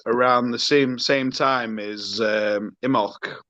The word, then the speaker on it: Imbolc: the same time as Imbolc. Is it Imbolc? Have I butchered the pronunciation? Imbolc. Yeah, no, it's Imbolc. A silent B.